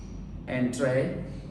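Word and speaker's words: entrée: Entree, here is this word come from French, pronounced similar to French.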